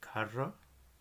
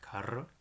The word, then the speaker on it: cara: but we're not see these are hard when they're before a o or you so we have a word like cara cara and seas are soft